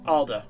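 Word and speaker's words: Alde: the cirrus truck camper the name of the company is actually pronounced alda but i always say aldi because i've been saying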